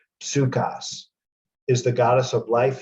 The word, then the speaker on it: Psukas: Or I say in the pronunciation Pasukas, but it just means the P is pronounced. Psukas is the goddess of life, healing, and medicine.